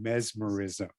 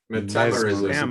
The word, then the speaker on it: metamerism: With our right answer being mesmerism. Metamerism. Mesmerism. Metamerism. Yeah. Metamerism. Wow, I've been Yeah, saying it wrong for years.